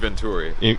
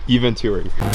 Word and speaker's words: Eventuri: In today's episode, we're working on Duke's RS5, and we're going to replace his stock intake with how do you pronounce it, Duke? EVENTURI. EVENTURI.